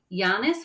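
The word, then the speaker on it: Llanes: of tourist radar is yanis which is spelled with a dou l a NES and ribber deelia now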